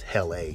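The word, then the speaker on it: HELL-A: Oh, it's Hella. Oh, my goodness. I've been mispronouncing that all along.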